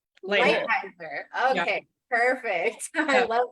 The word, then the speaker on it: Leitheiser: How do you say it? Leitheiser.